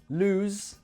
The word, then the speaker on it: lose: vibration unvoiced sound so the difference in these two words lose and loose it's this lose has that voiced sound at the end loose however has the